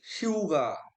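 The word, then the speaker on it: 휴가: হিউদ বর্ণের সাথে স্বরবর্ণ ইউ থাকলে এই হিউদটা স্বর মতো উচ্চারণ আসে। তাহলে শিউগা, শিউগা এরকম উচ্চারণ হবে, ছুটি।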